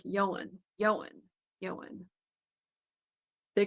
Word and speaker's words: Ioan: He thought it was uh he thought it was pronounced Ian.